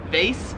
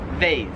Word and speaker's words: vase: Whereas here it is vase as in like phase.